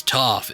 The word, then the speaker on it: Toph: adventures, and she says, "My name is Toph. It rhymes with tough."